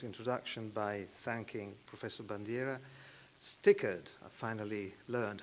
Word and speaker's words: STICERD: And I would start my very short introduction by thanking Professor Bandiera, STICERD, I finally learned how you pronounce it, and of course the Department of